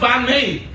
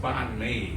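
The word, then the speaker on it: bánh mì: But you know, it's not pronounced banh mi. You know that. A lot of people say, it's pronounced banh mi. Can you hear the difference?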